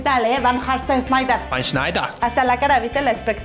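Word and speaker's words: Sneijder: Snyder. Se pronuncia diferente. Ah, es que como es de Holanda, el Van Hart Snyder.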